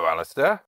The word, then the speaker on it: Alasdair: Hello, Alasdair. Hi, James. I wondered, can you tell that I'm pronouncing the D in your name?